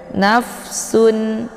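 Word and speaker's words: نفس: halqi atau izhar Hakiki jadi cara bacanya tanwinnya dibaca jelas nafsun Sun a ya Jadi tanwinnya cukup ditekan saja dan tanwinnya dibunyikan secara jelas ya tidak perlu dibaca dengung ataupun ditahan bacaannya langsung saja ditekan langsung masuk ke huruf Ain kemudian Anna di sini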